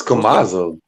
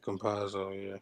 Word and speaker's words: Campazzo: Who is Kamazzo? Exactly. You proved my point. He was legit. He was the guard. When Jamal Murray got hurt. Murray's out. Yeah, Campazzo.